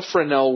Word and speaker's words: Fresnel: French is uh that it's actually spelled like Fresno, but don't say it that way.